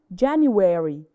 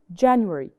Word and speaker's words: January: So January has 2 different pronunciations, American pronunciation and British pronunciation. أنا عندي نطقين مختلفين. So the Americans usually say it as January, January. So they say it longer. But the British, they say it shorter.